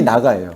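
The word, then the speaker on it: נָגַע: 이건 히브리어로 나가라고 얘기해요. 나가라는게 아니라 그 발음이 나가예요.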